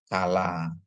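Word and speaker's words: כלה: Terus ada kap dikasih patah, di mana kap itu ada dagesnya jadi k ya. Sedangkan lamet dikasih kamats jadi la tambah he ya. Jadi bacanya jadi kala.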